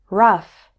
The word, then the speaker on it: rough: also pronounced this way o-u-g-h can be pronounced like uf in stuff as in these words enough tough rough there's one word where